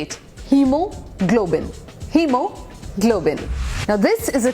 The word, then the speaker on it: hemoglobin: And that's how यू से इट, hemoglobin. Hemoglobin. Now this is a tricky word.